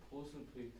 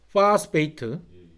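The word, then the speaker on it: phosphate: 안 보이는 포스페이트? 파스페이트. 예. 예. O가 영국식은 O로 발음 나는데 미국식은 A에 가까운 요 발음에 가까운 발음이 나죠.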